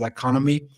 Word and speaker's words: Iconomi: leading the team at iconomi U some pronounce it as economy uh we are basically